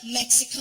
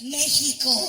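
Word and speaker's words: México: I totally get it for me it's not Mexico it's Mexico I'm you whenever people come to the island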